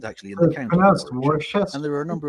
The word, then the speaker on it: Warwickshire: 3 counties, those being Warwickshire, Staffordshire and Worcestershire. And yes, for any Americans watching, that is how you pronounce those place names.